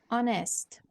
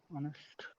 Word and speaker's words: honest: So when we say hour, or we have another word, honest. Honest. These two words begin with letter H, but the H is not pronounced. The H is silent.